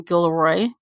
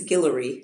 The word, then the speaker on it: Guillory: date series by jasmine gilroy did i pronounce her last name right i know you know right it's i believe it's guillory oh thank you i